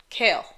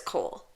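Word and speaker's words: Chaol: So in rolls in this dude, Kale. Yeah. He works for the prince. Now, you may have read it as Cole, like a lot of us. Yeah. But it's Kale. It's Kale. Like the vegetable.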